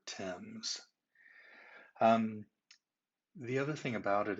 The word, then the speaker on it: Thames: river is called the thames river i know once people see it written out it looks like it's themes but it is not we're going to pronounce the name of that river thames the other thing about